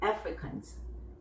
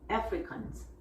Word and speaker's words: Africans: 영어로는 African, 3음절이고요. 한국어로 할 때는 자음모음을 계속 끼우니까 아프리칸 이렇게 4음절이 되는 거죠. 영어 발음하실 때는 Africans, Africans, Africans.